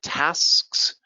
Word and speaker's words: tasks: Tasks, very difficult word to pronounce. Tasks versus taxes.